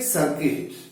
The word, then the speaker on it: circuit: We will begin with the topic Electric Circuit. The spelling is C-I-R-C-U-I-T, but it is pronounced as circuit.